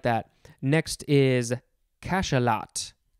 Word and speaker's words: cachalot: Next is cachalot. Cachalot.